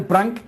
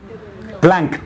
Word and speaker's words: Planck: Aunque crean que ustedes saben lo que es el prank. Planck, con perdón, es que me estoy volviendo boricua, ahora te lo digo con la R.